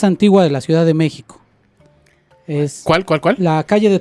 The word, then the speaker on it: México: Bueno, fueron tan tarugos al pronunciar los españoles que durante mucho tiempo a México lo escribieron con J. Con J. Cuando la pronunciación es como SH, como en Xola.